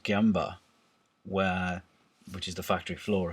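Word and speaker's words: gemba: Ohno famously used to find a place in the, I believe it's pronounced Gyamba, which is the factory floor effectively, where you could watch everything.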